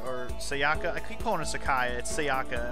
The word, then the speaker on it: Sayaka: should I talk to Sakaya for a while Sakaya I keep saying it I keep saying it Sayaka I need another name